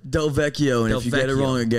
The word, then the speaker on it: DelVecchio: People have gotten your last name wrong before. It's DelVecchio.